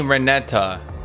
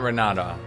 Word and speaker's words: Renata: real support hot mommy reneta not renata reneta he couldn't he